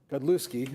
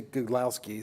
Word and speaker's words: Godlewski: Godlewski. I always say Godlowski, so I always get it wrong. Good Polish pronunciation.